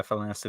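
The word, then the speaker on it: Fallanassi: from Black Fleet Crisis, or the Falanasi. Is that how you say it? yeah, Falanasi.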